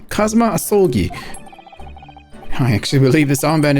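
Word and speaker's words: Kazuma Asogi: It's pronounced Kazuma Asolgi.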